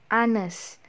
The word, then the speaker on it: honest: And then for words that start with a silent H. Jadi kalau misalnya ada kata yang huruf H-nya tidak dibaca, for example hour, bukan hour ya, but hour. Yang benar itu hour and honest.